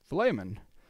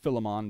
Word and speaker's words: Philemon: This is a letter to a person, a man named, well, Philemon. Sometimes people might call it Philemon, but Philemon is one of the ways that it's pronounced.